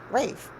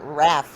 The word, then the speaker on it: Rafe: Rafe Rafe Rafe okay Rafe however I didn't spell it right so everybody's going to pronounce it Raph when they're reading it